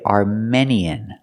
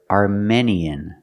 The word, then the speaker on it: Armenian: i a n arminian we cannot say Armenian Armenian Armenian native speakers do not pronounce the word Armenian the word is pronounced Armenian we use the long